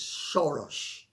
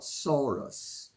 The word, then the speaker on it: Soros: Some people would say it's George Soros, and that's how the name is pronounced. It's not Soros. S-O in Hungarian is S-H-O. And O-S is O-S-H, like Miloš Forman or Miloš Banfi.